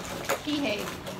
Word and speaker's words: Kihei: Kihei.